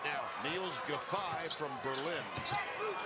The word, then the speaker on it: Giffey: Niels Giffey from Berlin. Spelled G-I-F-F-E-Y, pronounced Giffey.